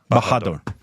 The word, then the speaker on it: Bahadur: And help me with the pronunciation of the second part. 120. Bahadur. Bahadur.